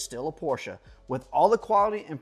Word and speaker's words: Porsche: oh yes I do own a Porsche it's pronounced Porsche not Porsche we're talking about the Porsche Cayman let's get